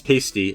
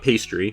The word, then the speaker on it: pasty: And yes, it's pasty, not pastry.